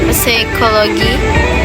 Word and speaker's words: psychology: P silent in the word psychology, psycho.